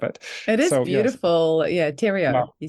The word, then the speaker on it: Theriault: every Butcher of it it is beautiful yeah Tero you say yes well we' had we've ched